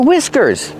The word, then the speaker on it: whiskers: The H is silent, and we use the short I sound like this is.